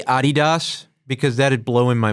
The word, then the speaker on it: Adidas: blow in my mind is that how you actually say it that is actually how you say it but it it bothers me when people say that it's it's Adidas here in America absolutely just floored